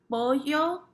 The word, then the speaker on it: pollo: Chicken is pollo. Pollo. And remember the double L's have the Y sound.